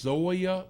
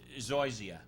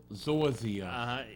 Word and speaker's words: Zoysia: Are you familiar with, is it pronounced Zoya grass? Zoysia. Zoysia.